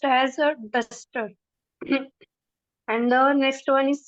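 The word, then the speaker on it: դուստր: So the first word is daughter. So it is pronounced as duster.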